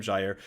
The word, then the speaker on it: Gyre: Yes, pronounced Gyre. That's how you say the word.